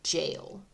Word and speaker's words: gaol: quarters a church a jail and sufficient storehouses to see the occupants through a lengthy Siege and yeah I know the gaol is spelled like that but um it really is pronounced jail it's kind of weird